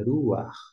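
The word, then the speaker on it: רוח: mas você atente que a pronúncia aqui é ruach, ou seja, esse sonzinho, como se fosse esse A aqui, como é para estar furtivo, o A ele vai vir primeiro e depois é pronunciado o RET, de ruach.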